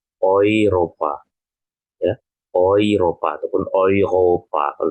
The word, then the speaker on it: Europa: Kemudian, nah ini jika E bertemu U. E bertemu U ini, dia hampir sama ya. Bukan hampir sama, tapi dia sama ya cara bacanya. Seperti saat teman-teman tadi yang saya ajarkan, menggunakan A umlaut bertemu U ya. Seperti A umlaut bertemu U tadi. Maka dibacanya menjadi OI. Ya, ataupun OI. Maka di sini dibacanya menjadi Europa.